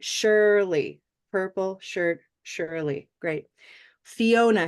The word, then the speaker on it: Fiona: Where's the big syllable? Oh, Is it Fiona, Fiona, or Fiona? Fiona. Fiona. So Oh. I'm going to underline. Oh, Oh, the second syllable.